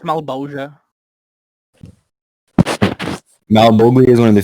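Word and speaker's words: Malebolgia: It's pronounced Malbolgia.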